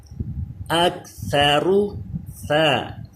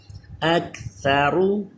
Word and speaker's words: اکثر: اکثر. تھا پہ زبان دانتوں سے اوپر والے دانتوں سے ٹچ رہے. سیٹی پیدا نہ ہو. را پر پڑھا جائے کیونکہ پیش ہے. اکثر.